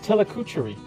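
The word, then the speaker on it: Tillicoultry: It's pronounced Tillicoochery. Really? Just how it sounds.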